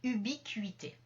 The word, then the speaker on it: ubiquité: du point numéro 4 ce n'est pas la prononciation C c'est la prononciation cui un petit peu comme dans le mot cuisine c'est-à-dire avec un U qui est un petit peu emphatisé et on va le